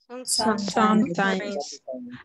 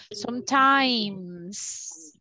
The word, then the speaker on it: sometimes: pronunciation of this word sometimes ah look I have a letter s so sometimes some people say just sometime sometime no sometimes okay I like play